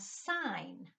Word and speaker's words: sign: next word we have sign we have I hmm the G is silent G and also says